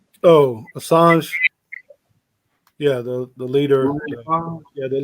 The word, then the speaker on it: Assange: uh was uh i know i'm about to mispronounce this dude's name help me out assad asajji oh assange yeah the leader yeah the leader of uh